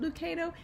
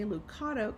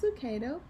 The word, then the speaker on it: Lucado: This is Itsy Bitsy Christmas by Max Lucado, and I'm pretty sure it's pronounced Lucado, even though when I read that I want to say Lucado because it's spelled like avocado, and I love avocados because guacamole.